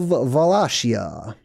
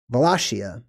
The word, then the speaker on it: Wallachia: I'm the Prince of valacia valashia or wallashia or wallachia however you want to pronounce it I'm the Prince of